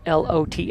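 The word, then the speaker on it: Loth: Last name spelled L O T H but pronounced lot.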